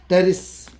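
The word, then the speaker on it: Pteris: And here also P, T, teres. P is silent.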